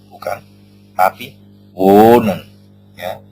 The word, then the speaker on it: wohnen: pada pengucapannya tidak terdengar contoh nih pada kata kerja wonen nah kita kita lihat wonen ya O terdengar lebih panjang ha tidak terdengar ya wonen ya kita mengucapkan n bukan wohnen bukan tapi wonen ya O terdengar S